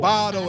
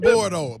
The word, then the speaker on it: Bardo: Bardo and not Bordo.